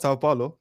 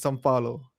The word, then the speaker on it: São Paulo: It's not Sao Paulo, and I often say this every year. It's São Paulo. São Paulo. It's not some. It's actually São.